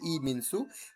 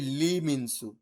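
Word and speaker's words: 이민수: তাই এই যে ই লেখছে ই মিনসু, কিন্তু এটা হচ্ছে লি মিনসু। ইংরেজিতে ওরা যখন দেখে, ওরা লেখে লি মিনসু, কিন্তু ওরা উচ্চারণের সময় ই মিনসুই ব্যবহার করে।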